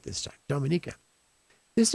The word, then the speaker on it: Dominica: from dominica i said it right this time dominica his name is rory jackson his call sign